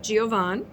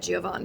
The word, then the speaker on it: Giovan: So his name is Dominic Giovan. And I say it like that, Giovan, because that's how they used to call him, Giovan. So I leave the I out.